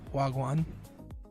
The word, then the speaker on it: Wagwan: Wagwan. In Filipino, it's wagwaan because there's two A's. Wagwaan. But I'm pretty sure it's not pronounced that way in Jamaican.